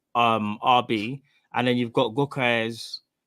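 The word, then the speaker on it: Gyökeres: and then you've got Gokes, that's how you pronounce it, from at Sporting.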